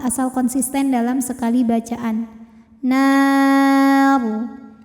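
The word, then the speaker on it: نار: Dan ketika berhenti ro ini disukunkan, dibacanya secara tafkhim. Kenapa? Karena sebelum ro yang disukunkan ada huruf berbaris fathah ya. Maka ro-nya tebal. Nar. Namun jika diteruskan ro-nya tarqiq karena barisnya kasroh.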